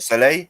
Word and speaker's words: Soleil: Soleil, right? How do I pronounce it? It's spelled Soleil. Is that it? Soleil, yeah.